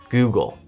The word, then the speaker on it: Google: Oh, I think it's more like goo, like you say the G-O-O first. Google. How do you say that word, Alex? Google?